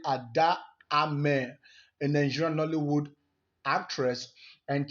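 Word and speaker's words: Ada Ameh: Having said that, Ada Ume just wasn't having anything. Okay, no, I think I have that name pronounced wrong. It's actually Ada Ame, a Nigerian Nollywood actress,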